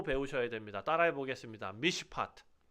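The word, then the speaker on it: מִשְׁפָּט: 미시파트. 네, 미시파트.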